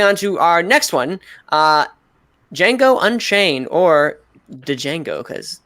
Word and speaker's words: Django: to our next one Django Unchained or de Django cuz but the D is silent so alright Ryan Django